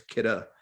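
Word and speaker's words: Kidde: kitties yeah they are they call it kitta actually people pronounce it kitty and stuff like that but it's kitta and kira makes this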